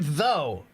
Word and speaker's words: though: cha so uh though the word though has o u g and we don't pronounce those letters right and that's such